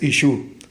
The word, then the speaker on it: Ishu: Si el Señor habló arameo galileo, entonces su nombre es Ishu, el Meshija. Así se debe pronunciar, así se debe escribir.